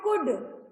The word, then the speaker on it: could: In the word could, the letter is L is silent. The letter L is silent.